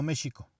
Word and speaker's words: México: significado de la palabra pronunciado en nuestro español actual sonaría como méjico es decir el sonido del lx sería como cuando se dice el anglicismo show en el español antiguo